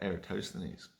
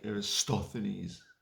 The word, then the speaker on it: Eratosthenes: So let us talk about Eratosthenes. Or Eratosthenes, or as a lot of people incorrectly say, Aristophanes.